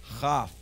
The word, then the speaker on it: Chaf: But without the dagesh, it is soft. Chaf.